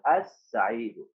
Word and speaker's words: السعيد: اول شيء يا بطل شيل ضم شيلها انطق ال. السعيد ما تصلح يا استاذ. السعيد الس نطقت اللام؟ ما نطقت اللام يا استاذ.